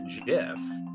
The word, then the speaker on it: GIF: will height will height released the graphics interchange format or gif and called it a jiff i mean i think